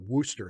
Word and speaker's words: Worcestershire: By the way you said Worcestershire is wrong. When Americans say Shire, they always give it a hard I when it actually has more of a soft E sound.